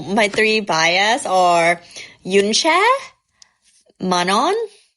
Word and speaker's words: Manon: So my three bias are Yuna, Manon, how to how to pronounce her name? Manon, Manon, Manon, and um Sophia. Yeah. So those are the three. Manu Manu. You say Manu. Oh, so you pronounce it Manu.